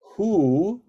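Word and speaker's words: הוא: Line 6 is Hu, Aleph is silent, Hu Elohei Ha'amim.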